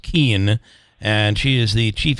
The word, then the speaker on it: Kuehn: By the way, it's Kate, Kuehn, pronounced Keen, and she is the Chief Information Security Officer and CEO of what is the name of the company?